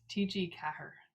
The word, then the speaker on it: TG4: want to say it how an irish person would say it is tg kahr because kahr is how you say four so now you now